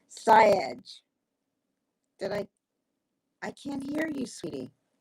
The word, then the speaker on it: Syed: Jameel Syed. Syed. Now, you'd think I'd know this correctly because I speak with him often enough, but I've never actually asked Dr. Jameel how he pronounces his last name. Syed.